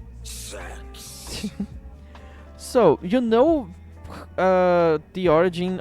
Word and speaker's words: sex: So 6 in Latin is pronounced as sex.